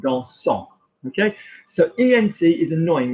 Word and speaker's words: dansant: And ANT gets pronounced because it's the ing form of the verb, it's the gerund. So, for example, dancing, dansant.